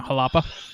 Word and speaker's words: Jalapa: Nicaragua is that correct yeah yeah halapa yeah well that's probably the proper way of saying it right jela jalapa from we're from Texas we have them jalapas you know but uh